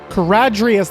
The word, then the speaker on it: Charadrius: CHARADRIUS. That was not even close to how I was pronouncing it.